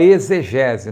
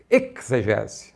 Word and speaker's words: exegese: Por exemplo, em exegese, a gente fala exegese, né? Porque a língua portuguesa nos obriga a falar assim. Mas uma pronúncia mais correta seria exegese, né? Esse ek ou ex, né?